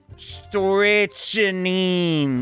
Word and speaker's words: strychnine: I'm just pronouncing this wrong every time. Strychnine.